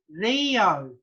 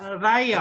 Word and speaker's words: reo: look at the spelling, you would expect somebody to say Rio. Yeah. Not Rayo. Rayo. Yeah, Rio. To pronounce it like the letter E, Rio or Rio.